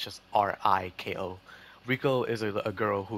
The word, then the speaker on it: Riko: And the characters, Rico, or Rico, yeah, I think that's how you pronounce her name. It's just Riko.